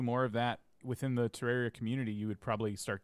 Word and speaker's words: Terraria: playing terraria oh my have i been pronouncing it wrong all of this time terraria oh yeah terraria that's correct it's terrible is